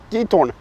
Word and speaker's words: Giethoorn: Ja, men god morgon ifrån ett bullrigt Guitorn. Man ska tydligen uttala G som ett ljud i alla fall. Det har vi lärt oss av holländska än så länge.